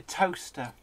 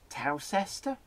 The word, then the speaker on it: Towcester: He sees a sign for toaster, and he goes, Towcester?